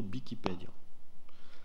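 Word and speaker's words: Wikipèdia: Et normalement, la prononciation occitane authentique, ça serait plutôt Bikipédio.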